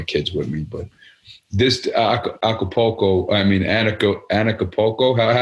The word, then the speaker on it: Anarchapulco: But this Anarchapulco, Anarchapulco. How do I say it? Yeah, you said it right. Anarchapulco.